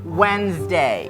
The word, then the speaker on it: Wednesday: D hilangin dari peradaban terus S di sini. Wednesday Wednesdayat lagi pakai Z luat ya.